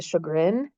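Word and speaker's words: Sjögren: is shrin syndrome and it's spelled not how it's said so it's s g o oh gosh SJ let me start over SJ o g r n and you say it sugin um this one can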